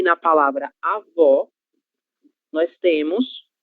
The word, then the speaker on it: avó: Um exemplo disso são as palavras avô e avó, certo? No avô, a gente tem os lábios quase fechando, um som fechado, ele tem